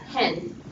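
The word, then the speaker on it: ἕν: always pronounce h just yes rough breathing Mark always pronounces H um and this is important because it will differentiate between the meaning of words so in Greek we have hen just Epson with the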